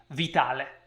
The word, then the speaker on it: Vitale: book by jubitale yes that's an italian name and that's how you pronounce it with an italian accent vitale all right i actually